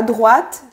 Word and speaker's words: droit: Donc ça finit en T et on ne le prononce pas.